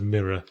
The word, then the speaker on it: mirror: Anyway, I sometimes give my girlfriend shit about the way she pronounces the word mirror. How does she She loves it. The American way. Mirror. Mirror. Mirror. As in the space station. Dying cough. It's got 2 syllables, damn it.